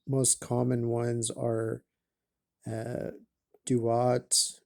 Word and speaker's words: Duat: common ones are uh, Duat, which is also sometimes called Tuat, and maybe just called uh, DAT or TAT in the earliest, like a one syllable word in the earliest renditions.